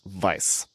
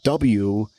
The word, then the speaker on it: Weiss: However, I'm pronouncing it the German way because it's spelled W-E-I-S-S, and German, a W is pronounced like a V.